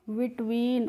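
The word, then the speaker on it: between: बिटवीन।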